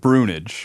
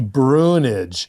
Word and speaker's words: Bruinooge: your last name uh it's dutch it's very Americanized yeah but we pronounce it brunage brunage so if you ask